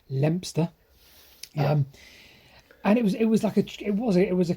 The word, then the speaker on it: Leominster: Or as I pronounce it, Leominster or Leominster or whatever. Apparently, Leominster is pronounced Lempster.